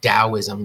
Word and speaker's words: Taoism: know that Taoism is pronounced Taoism with a D sound and I want you